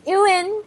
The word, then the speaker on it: Ewan: His name is spelled Ewan. There's no V. Right. Anyway. You say it like it's spelled. Ewan.